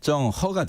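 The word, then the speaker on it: 鄭和: 마삼보 정시 성을 내려주면서 정화 중국 발음으로는 정 허가 됩니다 예 그리고 이제 환관으로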